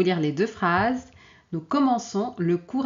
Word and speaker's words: commençons: Sinon, on va prononcer comment. OK ? Donc ici la lecture c'est nous commencons et ici c'est nous commençons.